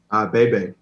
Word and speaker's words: Bebe: Bebe.